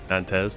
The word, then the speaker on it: Nantes: Nantes. Nante. I want to say Nante because I usually drop the S.